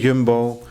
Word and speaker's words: Jumbo: your way at the Yumbbo. You said jumbo. Oh yes, there you go. Correct pronunciation.